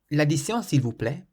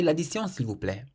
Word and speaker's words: l'addition s'il vous plaît: The phrase check please in French is l'addition s'il vous plaît.